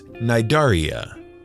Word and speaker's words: Cnidaria: Hydra are members of a phylum of animals known as Cnidaria. That's Cnidaria. The C is silent.